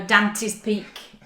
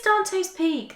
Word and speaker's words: Dante's Peak: Dan expects me to say it with in a Yorkshire accent and go Danty's peak. She suddenly goes all push Dante's Peak. It is Dante's Peak. That's how you say it.